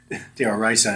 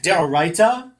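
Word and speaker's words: d'oraita: Distinguishing between something that is deoraisa, deoraisa in Ashkenazi pronunciation, deoraita, which is Aramaic for from the Torah, or something that is derabanan, something that is law instituted of the rabbis.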